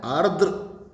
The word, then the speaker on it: आर्द्र: आर्द्र, आर्द्र, इसका उच्चारण है आर्द्र, आर्द्र यानी गीला, नमी युक्त, तो विलोम क्या होगा?